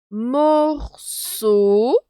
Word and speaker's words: morceau: Si tu veux, j'ai un morceau. Ici, regarde, E-A-U se prononce comme O. C'est le son O.